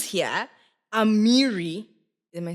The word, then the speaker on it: Amiri: It says here, Amiri, am I saying it right? Yes, Amiri.